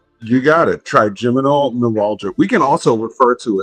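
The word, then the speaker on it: trigeminal neuralgia: because I don't want to screw up the pronunciation. Triiminal neuralgia. You got it. Triiminal neuralgia. We can also refer to it now that we've said it out loud. Triiminal neuralgia.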